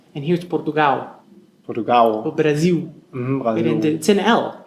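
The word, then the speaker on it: Brasil: here's Portugal Portugal Brazil bra L the word has an L on the end but we say a u here it's and yeah the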